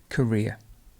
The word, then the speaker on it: career: carbon carbon dioxide carbon this one is difficult for many people which is korea korea k not ka korea the stress is actually over the ear career and carrot the stress